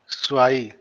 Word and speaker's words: zwei: स्वाई।